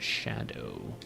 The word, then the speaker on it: Scadu: outside the realm of shadow. Revered spirit ash to bolster your revered spirit ash blessing. Scadu is pronounced as shadow. That's insane. There's no way I'm going to do that. It's Scadoo now.